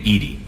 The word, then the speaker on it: EDI: airlock is a jar why are you named Edy Ed is the phonetic pronunciation of e di that is an acronym